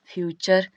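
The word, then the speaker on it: future: च होता है, और यहाँ पे टी के बाद क्या आ गया हो, URE आया हो तो हम क्या उसका उच्चारण करते हैं, च करते हैं। जैसे लिखा है फ्यूचर, और फ्यूचर लिखा है तो टी है, टी के बाद क्या आ गया, URE आ गया है, तो इसका फ्यूचर हो जाएगा, ठीक है।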